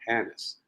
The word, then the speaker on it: Hannes: His name is Hannes. That's how he says it, Hannes.